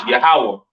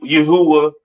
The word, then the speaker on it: Yahawah: and so on right so the lord's name is yahawah not y yahwa or or not Yahweh all right yahawah to the left of